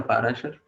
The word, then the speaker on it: पराशर: स्मृति में लिखा गया है, महर्षि या ऋषि पाराशर द्वारा, क्वालिटीज ऑफ गॉड, देवतुल्य लोगों की क्वालिटीज। ओके, पराशर या पाराशर, पराशर। ओके, तो हम क्या करते हैं, गीता मैम को एक बार प्रोनाउंस करने का मौका देते हैं।